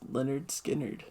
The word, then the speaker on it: Lynyrd Skynyrd: Yeah, the album I think is called Pronounced Lynyrd Skynyrd.